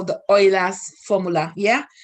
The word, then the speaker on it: Euler: up with a formula which they call the oil as formula yeah it's spelled eula but it's pronounced oila yeah as